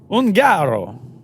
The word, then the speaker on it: Ungaro: Is that why you have the fancy last name that I can't pronounce? Ungaro.